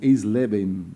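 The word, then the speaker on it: Eisleben: é difícil falar pronunciar isso aqui mas vou pronunciar assim esleben não sei se é assim que você escreve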